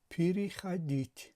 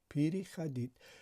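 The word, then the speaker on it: переходить: پی ری شده است و همه کلمه تلفظ شده است پیری خدید. پیری خدید.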